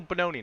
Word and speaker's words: Bononi: Gino Bononi, not Bonino.